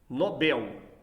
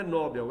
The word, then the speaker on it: Nobel: de concurso assim vejamos são oxítonas Nobel a sílaba tônica é o bem não é o nó nós temos um grande